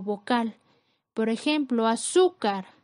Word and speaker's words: azúcar: Por ejemplo, azúcar, su es la sílaba con mayor fuerza, es la penúltima sílaba, cumple con la regla de acentuación, porque termina en R, colocamos la tilde.